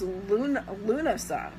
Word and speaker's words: Lughnasadh: It's also known as Lunasa, which is Lughnasadh, which is an ancient Celtic spelling, so it's pronounced a little differently than you would think from the letters.